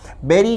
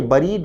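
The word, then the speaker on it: buried: Debbie विद्यार्थी ध्यान दें बेरी का अर्थ है दब जाना दफन हो जाना विद्यार्थी ध्यान दें शब्द के उच्चारण पर यह बरीद नहीं है बेरी है बेरी ड अंडर अ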